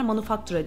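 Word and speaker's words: Manufaktura: manufactura yani genelde bunu Aslında praga yaşayanlar manufactura diye telaffuz ediyorlar Aslında şeye benzetebiliriz bunu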